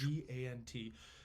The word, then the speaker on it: Levant: What the pronunciation? That sounds French. Levant, and that's what Europe largely called it. Oh, sounds French. It does sound French. Levant. Yeah. It is Levant.